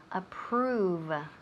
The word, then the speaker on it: approve: depends whether they approve approve so with a V solid whether they approve the